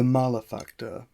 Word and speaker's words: Malefactor: that you can pick up right now the malafacter and yes it is pronounced malefactor not male factor malafacter means sinner and evil